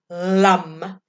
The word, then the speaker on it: Lam: So if you're wanting to connect in with your seed sound, with your base chakra, you are looking at LUM. LAM, pronounced LUM.